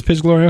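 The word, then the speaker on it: Piz Gloria: uh pis is it piz or is it pronounced funny pis Gloria it is pis Gloria okay I kept looking at it going can't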